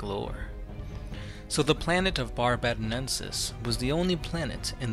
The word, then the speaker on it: barbadensis: the lone demon of barbadensis I believe that's how you pronounce it VAR b ID and sis bar bad Ensis barbadensis but anyway guys if